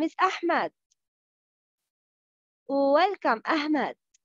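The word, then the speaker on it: أحمد: Welcome, Ahmed. No, I am Ahmed, not Ahmed. It's ha, not ha.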